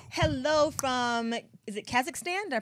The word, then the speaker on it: Kazakhstan: Somebody says hello from, is it Kazakhstan? Did I pronounce that properly? Kazakhstan.